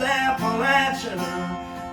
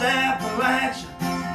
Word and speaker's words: Appalachia: It's pronounced Appa-Latch-Uh with a Perry County drawl.